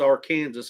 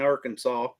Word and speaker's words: Arkansas: Kansas law I'm sorry it's R Kansas it ain't Arkansas just because y'all can't pronounce R Kansas oh mercy but anyway